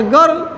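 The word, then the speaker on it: girl: शब्द होता है, कैसे, इसका सूत्र है गर्ल का, जी आई आर एल, गर्ल, आर के पहले आई जब आता है बच्चों उसका उच्चारण अ हो जाता है, ओके, नो प्रॉब्लम, ओके,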